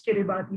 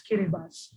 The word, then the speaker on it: Kiribati: And just this afternoon, I was reminded that Kiribati should not be pronounced as Kiribati, but rather as Kiribati, the only country that